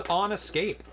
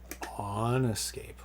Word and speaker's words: OnEscape: So next game is On Escape. One escape. On Escape, or Onescape, if you want to pronounce it incorrectly.